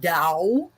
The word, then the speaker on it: Dao: was called Dao and it's actually Dao is because is because um it reflects uh a a a an older uh style of Roman romanizing you know applying English letters to CH to Chinese and I can't I